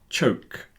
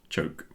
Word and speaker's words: choke: Okay, so there's joke, yoke, and choke. Three different sounds, and the ch, the last one, is an unvoiced version of the j on the first one.